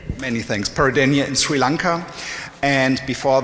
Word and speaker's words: Peradeniya: University, and please do help me with the pronunciation. Peradeniya. Many thanks. Peradeniya in Sri Lanka.